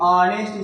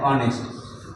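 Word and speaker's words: honest: अब इसको ऑनेस्ट लिखा है, लेकिन ऑनेस्ट इसको पढ़ा जाता है। क्या पढ़ा जाता है? ऑनेस्ट। तो इसमें आ गया, स्वर आ गया।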